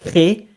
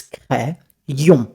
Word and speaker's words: crayon: Cray, not cré, it's crayon.